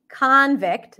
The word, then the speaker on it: convict: something record so the stress shift changes the pronunciation okay when it's um a noun she's a convict convict then this is going to be the ozen